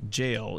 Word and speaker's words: gaol: We're heading here to this jail. It's not spelled jail, it's spelled G-A-O-L, but that's how it's pronounced, I guess.